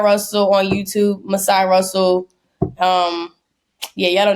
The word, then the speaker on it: Masai: it amen I love it I love it as said this has just been the biggest